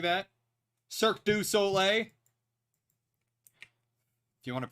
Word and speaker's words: Cirque du Soleil: Cirque du Soleil. If you want to pronounce it correctly.